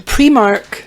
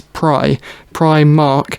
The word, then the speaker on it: Primark: we were going to premark premark Primark see now it really bugs me here cuz the correct pronunciation of that kind of word is pry pry Mark and that's why we're